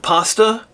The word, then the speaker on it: pasta: That's right, I use the British pronunciation of pasta as pasta, so I can have it rhyme with Jedi Master and faster.